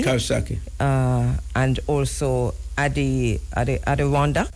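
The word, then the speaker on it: Coxsackie: Kosaki.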